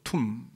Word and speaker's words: tomb: TOMB, B는 묵음입니다. 발음은 톰브가 아니고 툼. 왜 툼이냐?